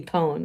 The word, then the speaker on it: pwn: I should add that PWN is pronounced like own, but with a P, pone.